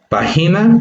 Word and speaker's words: página: Página, como vemos, se divide en 3 sílabas. De estas 3 sílabas, vemos que la mayor fuerza de voz queda en pa, porque decimos pa, y en este caso esta tiene un acento gráfico, porque ahí podemos ver cómo pa tiene la rayita que nos está indicando justamente esa entonación, esa mayor entonación.